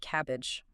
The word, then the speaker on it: CABG: Yeah, but clinicians don't say all that, they just pronounce it cabbage.